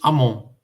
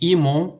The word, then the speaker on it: Amon: O nome do deus Amon, né? Nós temos esse I, esse é o som I, esse raminho de junco. Em vez de dizermos Imon, nós vamos falar Amon, tá bem?